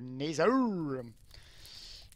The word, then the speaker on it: Nether: Oh, le Nether! Bien prononcé à l'anglaise.